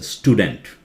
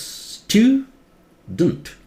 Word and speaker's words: student: You cannot say student. They think something to do with teeth, dent, or some dent in a car. This is pronounced as student. Student. E is silent. Student. Americans say student. British say stew. Student. But don't. And this part louder. Try it. It will sound correct.